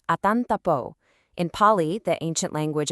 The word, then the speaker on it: atantapo: That's pronounced something like atantapo.